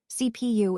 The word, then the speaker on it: CPU: Let's talk about the CPU, which is actually pronounced by spelling out each letter. CPU, it stands for central processing unit, which is essentially the core of the computer.